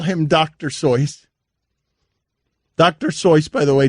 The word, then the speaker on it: Seuss: Seuss's name is pronounced dr. sois but do you think the Chuck Pagano left